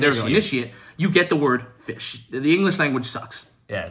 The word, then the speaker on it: ghoti: just said fish uh goatee is an alternative pronunciation for fish if you see the GH like you say it in enough if you say the O as you say it in woman women and the ti as